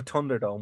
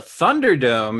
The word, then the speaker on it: Thunderdome: it's fair it's fair it's more of a d I'm just I'm gonna